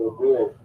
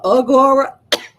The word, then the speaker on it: Agora: is represented and symbolized by those statues called Aurora. Yes. Oh my goodness. Spell that again. Those statues. It's called Agora.